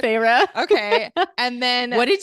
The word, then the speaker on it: Feyre: worst let's hear it so how do you pronounce so I already texted you to figure out how to it's phra right Farah okay and then what did you think it was I don't fire fairy I don't know like so Farah and then